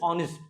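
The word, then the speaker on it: honest: एंड ऑनेस्ट की जब हम साउंड की बात करते हैं तो जो इनिशियल साउंड आता है एच साइलेंट रहता है ना, इट इज ऑनेस्ट है ना, वॉवल साउंड आता है, सो इट इज ही इज एन ऑनेस्ट मैन।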